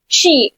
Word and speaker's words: she: शी, अच्छा इसको ना बहुत प्रोनाउंसिएशन में बहुत सारी प्रॉब्लम होती है कि ये होता है स और एस एच जहां पर आता है वो होता है श। तो ये क्या है? शी है, ये सी नहीं है, शी।